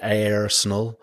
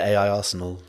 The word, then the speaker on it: AIrsenal: also a controversial topic I think Angus who's original co-creator um calls it a Arenal uh I call it AI Arsenal but I guess because